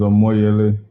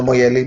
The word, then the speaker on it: Omoyele: more yearly so it's just to correct that okay i was sent um really i i knew you as a moyeli but you know sometimes